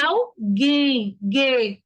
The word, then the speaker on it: alguém: Porque a gente não diz alguém, Gwen, é alguém, não tem o som do U, tá?